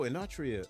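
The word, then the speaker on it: Enotria: anria the last song Whoa you got to spell that one e n o t r i a oh inria okay how did I miss that how did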